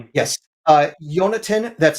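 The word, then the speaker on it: Yonatan: Uh Yonatin. That's spelled Y O N A T A N. It's like Jonathan, but it's closer to the uh uh Hebrew pronunciation spelling.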